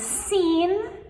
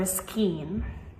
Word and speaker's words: scene: But with both of these, scissors and scene, we never ever pronounce the C. So we do not say skizzers or skeen.